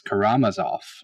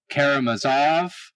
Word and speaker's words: Karamazov: devil whom yvonne karamazov that's actually the correct pronunciation is karamazov i was not aware of that but it